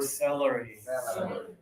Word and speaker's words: celery: Two fingers, not here, but here. Ah, salary. Salary. Good. And now close your teeth for celery.